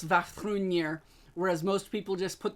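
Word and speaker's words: Vafþrúðnir: flex because I said Vafthrûdnir correct on my first time. And yes, I know with Norse names, there are so many different ways to pronounce them. So I went with the Norwegian pronunciation.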